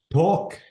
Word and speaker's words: talk: notice the L before the last letter this is silent am I right yeah and this is what talk talk yeah uh before the last letter we